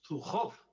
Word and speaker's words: Zhukov: Y nos viene nuestro amigo Pablo y nos decía, Zhukov. Dice, no, es que los ingleses no saben pronunciar la J, pues entonces ellos lo hacen pues lo mejor que pueden, ¿no?